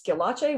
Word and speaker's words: Schillache: uh it's and my last name is skelache which is spelled strange it's s-c-h-i-l-l-a-c-e and there's no